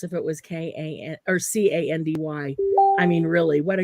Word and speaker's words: Kandi: Oh, You just have to because spell it's it. a K and ends K-A-N-D-I. with, it's Yeah, candy.